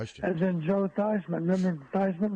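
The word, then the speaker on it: Theismann: Remember Thyman rhymes with Heisman. Yeah, but remember it used to be Theman. And then he changed how it was pronounced to Thyman when he was at Notre Dame.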